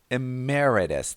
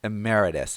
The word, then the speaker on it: Emeritus: meaning kept his title let's pronounce this word together Emeritus so the stress is here Emeritus an Emeritus Professor but do you believe